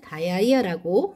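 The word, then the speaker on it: diarrhea: 설사는 다이아리아라고 발음을 합니다.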